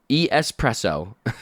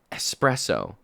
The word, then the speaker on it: espresso: There's no X. It is just E S preso. That's all it is. Espresso. There's no X. I don't even know how the X got in there. Espresso.